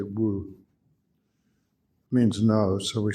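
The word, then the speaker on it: 無: And they always use the Japanese mu, which is an old, it's a Chinese pronunciation from like 1200 or something. The Chinese go wu now. But once the Chinese do it, just say wu.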